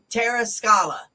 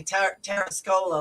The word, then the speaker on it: TerraScola: And so I was like, Terra Scala. And then I heard Cara say Terra Scola like 5 times, and I'm like, all right, tell me how to pronounce it because I might say it wrong. So it's TerraScola.us.